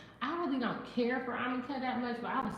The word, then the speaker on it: jamaica: got amica, which is it's spelled Jamaica, but it's like a plant, and they brew it like a tea is the best way for me to say it, but it's called amica.